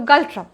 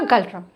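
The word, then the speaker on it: Ngultrum: उसके बाद भूटान की बात करें, अगर हम भूटान की बात करें तो गल्ट्रम, ठीक है, मैं एन को साइलेंट रखकर पढ़ रही हूँ।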